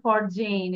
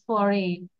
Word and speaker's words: foreign: It's not for Jane, it's foreign. Here, G will be silent.